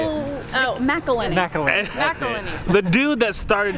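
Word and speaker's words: McIlhenny: Edmund McKinley. Edmund McKinley. How do you say it? Oh, McElhenney.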